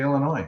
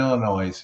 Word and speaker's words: Illinois: he did he just did he just pronounce the S oldie yes he did like somebody from Missoura yeah I did that on purpose but if you go play Blackjack in Illinois and you get whatever